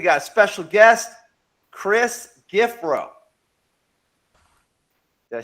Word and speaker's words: Giffrow: a special guest chris giffro did i say that right you did and you nailed it it's pronounced exactly how it's spelled so awesome and uh